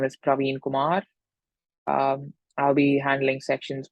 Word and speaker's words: Praveen: I'm Praveen, as I mentioned before, pronounced as Praveen with the double E.